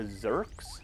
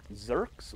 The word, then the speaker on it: Zurks: if you think, wait, what do you say, Zurks with a Z or a Z for our friends across the pond, but they rhyme with jerks because they are jerks, and they're going to